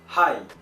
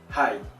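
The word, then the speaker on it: はい: Donc d'abord les mots de base, donc oui, on dit hi, hi, avec un H, on prononce bien le H, hi, oui.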